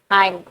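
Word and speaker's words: hymn: एच वाई एम एन हाई उसको हिम नहीं पढ़ते उसको हाई पढ़ते हैं एन उसमें साइलेंट होता है अमृत अमृत का वो इंग्लिश वर्जन ढूंढ कर लाइएगा।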